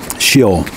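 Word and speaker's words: Sheol: heaven but in shale s-h-e-o-l i never pronounced that right it's pronounced different than it's spelled he was not apparently in heaven but he was in shill in a state of rest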